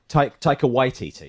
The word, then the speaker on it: Taika Waititi: Is it Taika Waititi? Yeah. Is that right? That's what we've been going for. Waititi, yeah. Taika Waititi. Yeah. I think that's how I heard it said, but Taika Waititi.